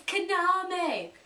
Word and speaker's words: Kaname: It's Kaname. Yeah, she's just like, no! Bam! Bam! I hate the pronunciations in that game.